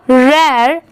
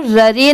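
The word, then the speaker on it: rare: ओ am from अ रेर आर ए आर ई यहां पर रर नहीं पढ़ेंगे इसे इसकी प्रोनंसिएशन क्या है रेर यह है हर्ब एच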